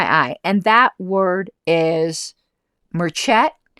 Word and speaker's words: merchet: I decided to pursue another trail that caught my eye, and that word is merchet. Pronounced something like merchant. Merchet, though, I think that's correct.